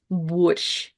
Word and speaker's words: борщ: or Ukrainian, and that's борщ. Борщ. And the last letter and sound of this word is the sh.